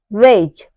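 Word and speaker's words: wedge: तो हमारा letter D जो होता है वह साइलेंट रहता है जैसे एग्जांपल है ब्रिज जज हेज वेज इन सब में क्या आ रहा है डी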